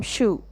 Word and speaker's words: Scheu: perhaps you did identify when it comes to pronouncing my name I am Shu question number a what